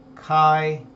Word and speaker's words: chi-square: something really simple which is known as a chi-square test CH I you can pronounce it to get T squared on a